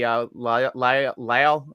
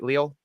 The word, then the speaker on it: Leal: If he's playing right tackle, that would be on Tuitt / Wormley / maybe Lyle. Did I say it right? Leal? I think it's Leal.